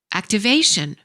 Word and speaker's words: activation: Verbs ending with ate stress the first syllable. Nouns ending with tion stress the second syllable before the suffix. Activate, activation.